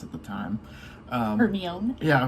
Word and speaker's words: Hermione: Hermione. Yeah, because I was like, Hermes. I know it's not Hermes, but anyway, that's kind of as a kid, I was like, you know, Hermes.